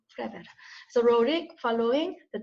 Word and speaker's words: Flaubert: 그러니까 Flaubert, 이게 지금 불어잖아요. 그러니까 마지막에 발음이 안 나죠. 불어. Flaubert.